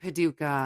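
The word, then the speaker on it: Paducah: I hate Paduka.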